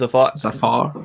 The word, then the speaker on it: Zafar: your name yeah i said it right it's a far yeah okay cool um you do past streams